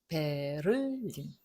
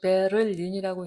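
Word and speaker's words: Berlin: 베를린, 베를린, 베를린. 이거를 베를린이라고 읽는 건 상당히 한국적인 발음이죠. 우리 뭐 한국 사람이니까 한국식으로 읽는다는 거죠. 베를린. 그런데 정확하게는 베를린. 그래서 베를린이 좀 더 가깝긴 해요.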